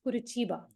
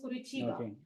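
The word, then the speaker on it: Curitiba: no the pronunciation is kuraa so the the spelling is c r i t i ba the pronunciation is kurba so the kuruba is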